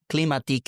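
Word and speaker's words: климатик: Cleatik is how you say air conditioning system in Bulgarian.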